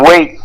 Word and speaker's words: Waites: And Waits is spelled W-A-I-T-E-S.